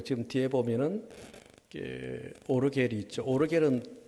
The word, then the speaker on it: 오르겔: 오르겔은 독일 발음입니다. 보통 우리는 파이프 오르간 그렇죠. 파이프 오르간은 미국식 발음.